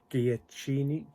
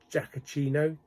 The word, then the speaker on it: Giacchino: The music by Michael Giacchini. I can never pronounce his name. He did Up and Star Trek. I've always liked his music. Probably he's my second favourite composer after John Williams. Giacchino?